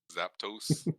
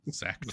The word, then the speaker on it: Zapdos: So, it's just pronounced like lactose. Zapdos? Zapdos. Isn't there an A in there? No, Zapdos. No.